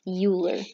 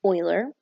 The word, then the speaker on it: Euler: His name looks like it should be pronounced Euler, but it's actually Euler.